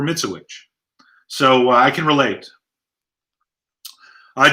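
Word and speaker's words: Mitzewich: or mispronouncing names because my name is mitsuwich and growing up it was pronounced a thousand different ways none of which were mitsubish so i can relate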